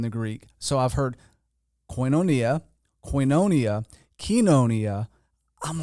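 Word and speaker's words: koinonia: order but uh so we use the erasmian pronunciation system which was actually developed in the 15th century try to be consistent with coinonia that's the way I would say it there's a couple of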